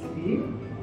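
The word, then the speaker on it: 鱼: Because in Chinese, the fish is yu, the same pronunciation with abundance, yu.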